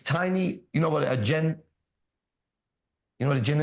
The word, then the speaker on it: jinn: You still have these tiny, you know what a jinn, you know what a jinn is?